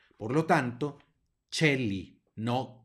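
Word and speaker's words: coeli: se pronuncia e y cuando la c está seguida de una e la pronunciamos como Che en español por lo tanto Cheli no koeli Ok luego Aquí ya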